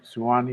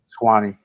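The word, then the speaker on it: Suwanee: that pronounce it right suwani you're soon swanny swanny yeah you got a police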